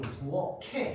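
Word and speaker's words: 부엌에: 얘는 형식 형태소이기 때문에 이 키읔이 그대로 뒤로 넘어가가지고 부어캐 이렇게 발음해줘야 됩니다.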